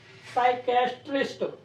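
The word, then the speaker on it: psychiatrist: 3 अक्षरों में बांट के बोला जाएगा। साइकेट्रिस्ट ऐसे बोलना है, मतलब शब्द ही ऐसा है।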